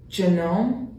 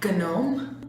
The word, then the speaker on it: gnome: So this word is Genome. no, Gnome. no, it's gnome. See how? It's because the G is silent.